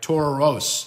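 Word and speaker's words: ταῦρος: as the Taurus right tauros and of course tau ro s is how you say Taurus or bull bull mountain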